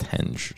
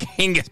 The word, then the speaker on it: henge: is actually in the word Stonehenge and it's pronounced henge so but I like Hingis better so it's Stonehenge because it's hanging Stones